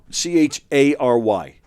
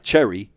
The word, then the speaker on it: chary: C H uh C H A R Y, but it's pronounced chary, not cherry, like chary.